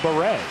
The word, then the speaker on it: Barrett: see the note that JT Barrett wants his name pronounced a different way he came out today how JT Beret really no see if you're paying attention oh that's cool but I think Barrett or Beret as it were it's going to be